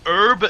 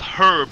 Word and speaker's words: herb: It's pronounced herb in English and pronounced herb in the US. So you can actually pronounce it either way you want. I can do whatever I want. If you pronounce it herb, then you pronounce it the US way, basically. If you pronounce it herb, then it's the English way.